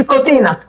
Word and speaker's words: Kotina: It's Kotina. Kotina.